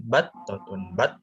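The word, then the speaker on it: بطة: Nah, itu kan ada tasdid tuh ya. Berarti fokuskan atau ditegaskan pelafalannya di yang bertasdid battotun itu.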